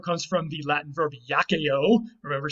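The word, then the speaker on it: iaceo: The second part comes from the Latin verb yakeo. Remember, C's are always hard in Latin, which was why I'm pronouncing it yakeo.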